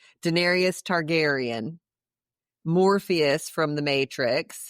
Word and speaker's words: Daenerys: Daenerys. Daenerius Targaryen.